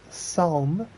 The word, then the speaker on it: Psalm: Psalm. The P is silent, right? Psalm.